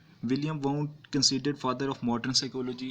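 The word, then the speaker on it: Wilhelm Wundt: Structuralism को present करने वाले, इसको तरतीब देने वाले जो साइकोलॉजिस्ट थे उनका नाम था विलियम वाउंट। इनको विलहेल्म वाउंट भी प्रोनाउंस किया जा सकता है।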